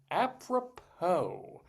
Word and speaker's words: apropos: So Dave's big dictionary it is and the word is apppropo. A p r o p o s. There's a silent s on the end of that there.